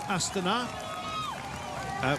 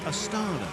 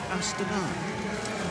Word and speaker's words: Astana: hospital with a suspected broken collarbone this is Astana we asked them and that is the correct way to pronounce their name some of you say it's a starter no it's Astana there we are um they said that's what